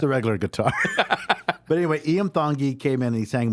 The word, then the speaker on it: Iam Tongi: His name it's pronounced Iam Tongi. Yeah. Iam Tongi.